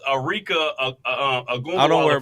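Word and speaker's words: Arike Ogunbowale: No, it's Arika Agumbawala from Dallas.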